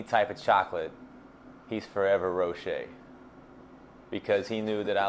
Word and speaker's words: Rowshay: Because Rowshay is spelled like, it's French.